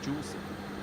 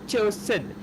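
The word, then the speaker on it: Zhuxin: No, the proper pronunciation is supposed to be like the Chinese, like the Mandarin, or you can also go Cantonese, but the real one is Chosen.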